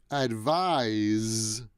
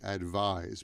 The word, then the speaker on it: advise: update this later um advise is the verb and it's spelled with an s but the s the pronunciation is a z advise please advise me after